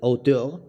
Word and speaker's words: auteur: Él rechaza por completo la categoría de auteur. ¿Cómo se pronuncia? ¿Javi? Bien dicho, Oteo. ¿Es auteur? Oteo, bien dicho. Auteur, muy bien.